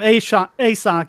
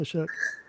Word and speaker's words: Ashok: People calling him ASOC. It's actually pronounced Ashok.